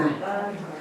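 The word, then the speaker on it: kamma: 그래서이 K를 인도 사람들은 좀 발음을 된 발음을 해요. 우리는 K로카 발음을 하는데 인도 사람들은 끄 발음을 해요. 그럼 만약에 인도식으로 발음한다면 뭐가 되겠습니까? 까 까르마. 까마 또는 까르마 또는 까마라고도 해요.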